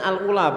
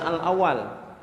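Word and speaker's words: الأولى: in terus minha Alula Kenapa ini bacanya Alula bukan al-awwal sagung Hai ini pembacanya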